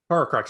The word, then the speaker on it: Horcrux: Horcrux, yeah, that's how you say it.